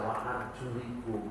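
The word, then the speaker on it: وَأَرْجُلِكُمْ: Rasul pernah membacanya dalam 2 bentuk. Sekali waktu dibaca wa arjulakum, sekali waktu beliau membaca wa arjulikum.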